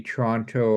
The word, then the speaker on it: Toronto: tell the difference between Toronto and Vancouver other than how torontonians pronounce Toronto it's toron oh okay gonna come to